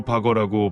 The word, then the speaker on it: Bagger: 이름에 붙은 바거의 뜻은 굴삭기이며 독일어로 바거라고 발음합니다.